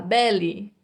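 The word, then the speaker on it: belly: significa barriga tá esse essa última letra e a gente fala com som de ir está lá Bele Bele significa barriga Oi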